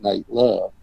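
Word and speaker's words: Nat Love: name is spelled N-A-T, but it's Nate Love.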